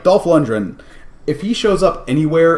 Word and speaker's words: Dolph Lundgren: Dolph Lundgren. It's a hard G.